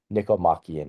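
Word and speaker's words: Nicomachean: Um you'll see other pronunciations elsewhere, but Nikomakian ethics is how I pronounce it.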